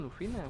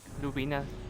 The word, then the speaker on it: Lubina: Conversación con Lufina, what the fuck. Lubina, siempre lo pronuncio mal.